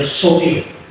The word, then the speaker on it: zoe: Nah, Tuhan itu melayani kehidupan, ya, bahasa Solonya namanya soe, Z-O-E. Ya, bacanya gimana? Apa soe? Jadi gampang toh ingat-ingatnya soe.